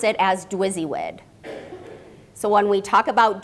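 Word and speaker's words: DWYSYWD: and Barry the authors of the leadership challenge pronounce it as drizzywood so when we talk about drizzywood we also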